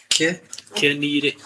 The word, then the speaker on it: Kenire: Kenire. I'm pronouncing it the way it's supposed to be.